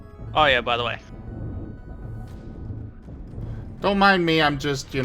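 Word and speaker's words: Doux: I mean I'll have I don't have that's how it's pronounced normally that I'm foo but uh I'm assuming that you're meaning for it to be uh white fox.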